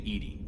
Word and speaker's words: EDI: named Edie? What's it short ED for? is the phonetic pronunciation of EDI.